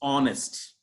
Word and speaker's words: honest: It's not honest, H is silent, it's honest.